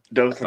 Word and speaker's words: Dothan: Am I pronouncing that correctly? Dothan? Yep, Dothan.